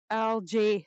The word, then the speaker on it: algae: Yes, algae. Thank you. Hard G.